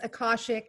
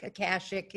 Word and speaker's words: Akashic: said it's not okay it's kasich records yes akashic akashic okay all right yeah you say tomato i